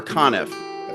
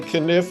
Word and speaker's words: Conniff: welcome Frank conif it's Frank kif is how you say it or knif um suppos supposedly kenif is the right way to say it and it's the